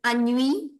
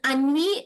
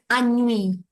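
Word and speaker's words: ennui: Second is I think somewhere you mentioned the word anui. It is ani is the deeper sense of boredom. The nonchangeable thing which keeps you where you are and that is pronounced as ani.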